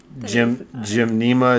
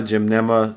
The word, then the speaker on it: gymnema: much how i would say it so uh jim jim nema gymnema sylvester silvestri um if you get you can't